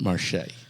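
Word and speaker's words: Marché: but they pronounce it Marche yeah it's the French spelling of Market well it's m a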